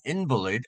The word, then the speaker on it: invalid: 자, 여기에서 invalid라고 제가 읽었는데요. 발음을 했는데, 왜냐하면 명사로 쓰였기 때문입니다. 우리가 보통 형용사 valid가 있습니다. 타당한, 적당한 이런 말이 있죠. 그런데 여기서는 형용사로 쓰여지지 않았죠. 형용사로 만약에 쓰여졌다면 invalid 이렇게 읽어야 되는데 여기서는 병자라는 뜻으로 invalid 이렇게 명사가 됨으로 인해서 이렇게 발음이 바뀌었습니다. 그리고 이 강세도 스트레스도 앞으로 이동이 되었죠. valid, invalid 형용사일 경우 명사일 경우는 invalid 이렇게 발음을 하게 됩니다.